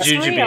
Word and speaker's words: jujube: the lotte tree or well how do you pronounce it the inversion was no problem the english version got it it's jujube yeah that's a very obscure word so you're